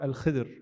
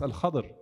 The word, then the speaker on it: Al-Khadr: Al-Khadr or Al-Khidr, more commonly actually pronounced Al-Khadr in Ahadith.